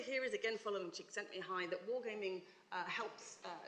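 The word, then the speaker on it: Csikszentmihalyi: Um Mihi you know you're a games researcher when you learn how to pronounce this chap's name. Um sent me high says that flow is an optimal state of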